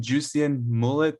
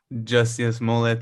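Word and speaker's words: Jussie Smollett: was also sam you said is his name juician mullet did i say his name word that actor who oh jesse just yes mullet so you have some updates on him he's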